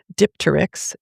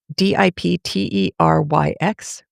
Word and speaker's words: Dipteryx: I am going to try and pronounce it because it's kind of funny. Dipteryx, Dipteryx.